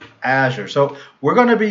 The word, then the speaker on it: Azure: so what is it you have to pronounce the emphasis on the a I guess then how do you pronounce this I pronounce it a sure it is yeah I